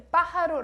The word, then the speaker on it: pájaro: Em espanhol, o J tem esse som do R nosso, então pájaro se escreve com la J, pero la pronunciación es como la R de português. Pájaro, el pájaro loco.